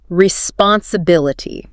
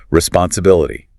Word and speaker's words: responsibility: Responsibility, six syllables. The primary stress falls heavily on the bill. Responsibility.